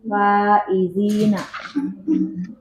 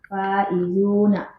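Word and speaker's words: فائزون: Jadi bacanya as-sabburatu sauda'u. Baik, istamirri. Sadisan al-muslimuna faizina. Umat muslim menang. Dibetulkan jadi al-muslimuna faizuna.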